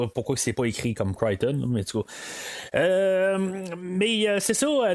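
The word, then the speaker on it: Crichton: c'est dans le fond c'est marqué comme critchton son nom mais ça se prononce Criton là je v juste le dire de même là pendant des années là j'ai dit cron puisentuellement je tombé sur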